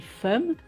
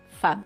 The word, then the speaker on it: femme: Si on le décode, on lit femme, mais en fait, il faut apprendre que ce mot se dit femme.